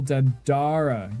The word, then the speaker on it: Dandara: The stress is on the second syllable. Dandara. You were saying it right the first time.